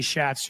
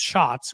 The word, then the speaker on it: Schatz: I used to say Schatz. I've been told it's pronounced shots, which I understand why.